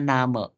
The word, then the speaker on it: Name: So, nama auf Deutsch-nya kita bilangnya Name. Jadi bukan name ya. Jadi aku mungkin tadi mungkin aku pernah chat ke kalian suruh nulis data diri. Itu bacanya bukan name tapi Name.